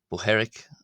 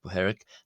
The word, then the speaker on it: Bohairic: Uh however, luckily for us today, the dialect primarily used by the Coptic Church uh is the Boheric or Boheric as some people, but I pronounce it Bheric.